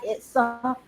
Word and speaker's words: Etzah: Did I say it right? Etzah? That's right, sister.